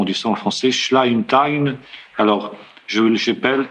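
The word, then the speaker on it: Schleitheim: Cette confession de foi s'appelle confession de foi de je sais pas comment on dit ça en français schlime.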